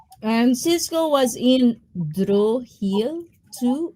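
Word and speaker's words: Sisqó: Cisco I thought that was sisq. It's Cisco. Cisco. Yeah. A different name same pronunciation. Yeah.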